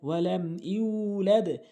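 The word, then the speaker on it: وَلَمْ يُولَدْ: ওয়ালাম ইয়া পেশ ইউ লাম দাল জবর লাদ ওয়ালাম ইউলাদ লাম ইয়ালিদ ওয়ালাম ইউলাদ তাহলে সঠিক অর্থ দাঁড়াবে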